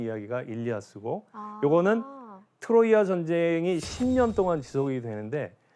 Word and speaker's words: 트로이아: 이름을 트로이라고 보통 얘기하죠 근데이 트로이는 영어식 발음이라고 할 수 있고요 오늘 이야기에서는 고대 그리스에서 쓰던 지명 그대로 트로이아라고 하는데 트로이어라는 이름으로 제가 한번